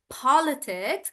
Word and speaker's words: politics: So when a word is small, like politics, I'm stressing on paw and I'm saying politics.